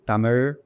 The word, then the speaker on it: Tamil: When I pronounce Tamil, it's Tamil. But when you pronounce Tamil, it's different. It's Tamil. Tamil. Yeah. Yeah. It's Tamil. It's not Tamil. It's not Tamil. It's Tamil. There's no word for Okay. Where you would find in Tamil Nadu, lots of places you would find the letters called ZHA. Okay. That's pronounced as yeah.